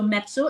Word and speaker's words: Mezzo: So mezzo, if you pronounce it, you can pronounce it as pizza, mezzo or pizza. So that's way it's easier for you to recall the name.